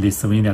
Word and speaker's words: Lithuania: 这是立陶宛立陶宛很多人应该都不知道怎么念 Lithuania。Made in Lithuania 就是立陶宛这个国